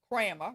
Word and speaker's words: Kramer: Neil Kramer Kramer, rhymes with slammer, her accountant.